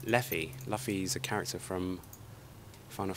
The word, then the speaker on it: Leffi: to be up against Luffy. Not Luffy, Leffy.